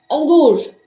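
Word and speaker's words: انگور: अंगूर, इसमें अलिफ की आवाज आ रही है और बहुत शॉर्ट करके आ रही है।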